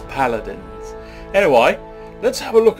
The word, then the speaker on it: Paladins: he appears to be locked anyway this is Pudin not pronounced in that way it's paladins anyway let's have a look at the Champions